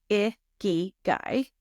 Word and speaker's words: Ikigai: It is pronounced Ikigai, and it is Japanese, combining the word iki, meaning life, and gai, meaning worth or value.